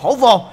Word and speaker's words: Howo: nó là con xe đến từ thương hiệu hổ vồ Hay gọi là Howo hay còn đọc là cnhtc gì Là cái gì tôi cũng